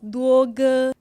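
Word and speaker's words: 多哥: It is pronounced juoge. Ce mot se lit duoge.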